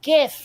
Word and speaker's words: GIF: very explicitly said that choosy developers choose GIF just like Choy moms choose GIF that was the commercial that was the inspiration for the pronunciation of the name so again if you're pronouncing it gif you're wrong oh my but and